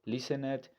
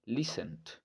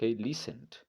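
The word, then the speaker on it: listened: que pronunciarla por ejemplo nota que aquí yo no estoy diciendo listener sino listend Ok listend sin pronunciar la e del final Ok entonces Bueno lo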